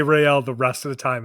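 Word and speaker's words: Raël: say Rael just say Ryel the rest of the time. As long as it's consistent it doesn't matter. I feel like Ryel is how you say his name, but you say real Rael.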